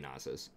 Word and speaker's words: Nasus: And some people say, well, it should be Nasus. Well, it's 2 syllables, so it's, you know, Nasus, I think, and not Nasus. Like, a sound like Nace is when it's 1 syllable, when there's usually like 4 letters in 1 syllable, like vase or mace or something like that.